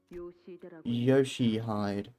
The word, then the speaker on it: Yoshihide: Ryoshu? No, that's not how you read those letters. Yoshihide. That's how you say it.